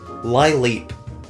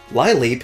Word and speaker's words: Lileep: Lileep makes it sound like it's a lying ballerina. And just like Snorunt, its species name is the Sea Lily Pokémon, so why not pronounce it that way in the name as well?